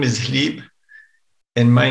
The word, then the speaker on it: Hlib: of Kiev and Rus are Boris and Hlib, or sometimes pronounced Boris and Gleb.